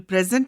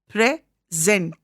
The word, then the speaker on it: present: In the word present, when it is read as a verb, the stress is on the second syllable. It is present.